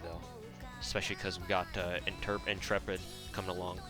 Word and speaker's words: Intrepid: Is her name Interpret or Intrepid? I always thought that you pronounce your name Interpret instead of Intrepid, but I guess the Japanese pronunciation implies that it's Intrepid, not Interpid.